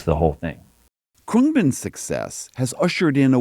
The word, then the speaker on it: Khruangbin: Khruangbin.